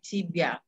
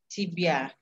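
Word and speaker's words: тебя: tapi kalau ditanya nama pakainya cibia bacanya cibia sibya Kenapa begini karena ini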